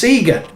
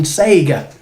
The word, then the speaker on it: Sega: confirmed by sega it's sega so there's no arguments no more i've told you what it is and you can now stop saying sega it's sega next we're going to